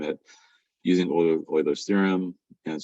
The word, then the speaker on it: Euler: Euler's theorem. That's how you pronounce it, Euler. U-L-E-R.